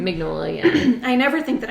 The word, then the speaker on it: Mignola: Mignola, yeah.